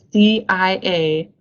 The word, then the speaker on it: diapause: going into a physiological state that we call diapause. And I don't have that word on this slide, but if you want me to spell it, it's D-I-A-P-A-U-S-E, diapause.